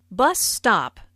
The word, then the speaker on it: bus stop: Bus stop is a compound noun with the main stress on the first word.